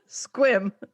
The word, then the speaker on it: Sequim: Squim. Sequim. Squim. Squim. It's pronounced squim.